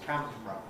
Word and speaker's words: camera: I normally say just 2 syllables, camera. Camera.